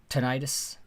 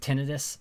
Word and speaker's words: tinnitus: I have tinnitus, and that's how I pronounce it, tinnitus. I don't like saying tinnitus.